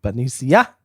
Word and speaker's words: Benicia: Benicia. And That's how while they he's say it. there, The locals say it.